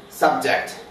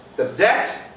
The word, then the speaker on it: subject: Subject. The stress is on first syllable. Subject. The stress is on second syllable.